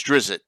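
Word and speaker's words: Drizzt: half the time but how do you pronounce drizzit i say drizzy is it dritzed i say drift drift dressed okay i've always said to rhyme with pissed okay just like drow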